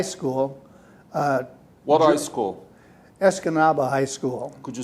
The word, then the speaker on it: Escanaba: out of high school uh what high school escanaba high school could you spell it e-s-c-a-n-a-b-a as comaba escanaba askanaba and yeah escanaba high school wendy's graduate i graduated in 1950 june of 1950.